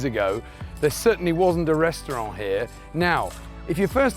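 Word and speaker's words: Ресторан: on earth is a pecto par behind me that's the most important word you need to learn it's actually a restaurant but written in cyrillic so just remember pectopar pronounce it restaurant right here we are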